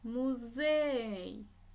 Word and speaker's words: музей: и місце наголосна і музей наголосна е словник наголосна и хвилинка